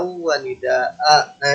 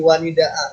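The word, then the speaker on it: وَنِدَاء: Wanidaa, begitu cara bacanya. Wanida, jadi nggak wanidaan. Kalau mau disambung nanti ngelihat bentuk wakafnya ya. Kalau pola ini kalau nggak salah sebaiknya berhenti dia. Wanidaa, gitu cara bacanya. Jadi A-nya itu dibaca panjang 2 harokat.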